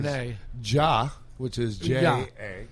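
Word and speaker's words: já: J-A. It's pronounced ja.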